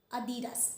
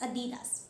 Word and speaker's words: Adidas: Adidas. It is Adidas. It is Adidas.